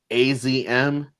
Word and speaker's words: Azumi: I know after that match that one chick in the match, Azumi, I didn't know that's how you pronounce her name, but it's like AZM.